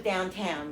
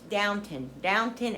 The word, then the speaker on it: Downton: Somebody, a couple people had mentioned, because I watched Downton Abbey, I always thought it was downtown, but it's Downton Abbey is how they pronounce it.